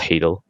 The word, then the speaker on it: Hadal: another student project hadal i know it's called hadel but i just like pronouncing it hard it sounds more intimidating but yeah that's that's